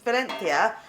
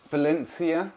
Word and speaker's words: Valencia: how do you say Valencia Valencia yeah if something's like got a zed sound in Spanish it's pronounced with a th so it's not Valencia